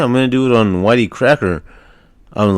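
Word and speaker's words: YTCracker: exactly so how his name came about was it's uh why the letter y the letter T and then cracker pronounced Whitey cracker he was um born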